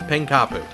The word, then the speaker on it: Pankapu: And yes, it's pronounced Pankapu.